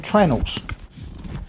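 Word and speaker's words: treenail: ship Builders call them tree nails when they're made out of wood but like everything in the Woodwork in trade we don't pronounce that properly we call them trenel so this in actual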